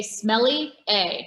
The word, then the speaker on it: sommelier: on your pronunciation of sommelier. We were practicing before, and I love to just tell people, like, just pretend you're French and then say smelly A, right? And say it really fast.